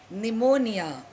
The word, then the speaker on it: pneumonia: Then is pneumonia. It is fever owing to lungs disease. This was a very dreaded word during the COVID outbreak. Now it begins with P, but the P is silent.